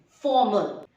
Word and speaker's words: formal: It is not formal. You don't pronounce the R. You consider the R as W. Formal.